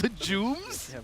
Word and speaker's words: legume: Legumes? Yeah, it was legumes. And, I've never heard I that have no pronounced as idea. legume. How do you pronounce it? It's legume. Oh my god.